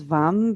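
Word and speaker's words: vam: the seed syllable sound is vum v-a-m take a deep inhale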